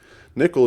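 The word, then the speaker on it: N1QL: 1ql is is that you say it as nickel that is the correct pronunciation that stands for non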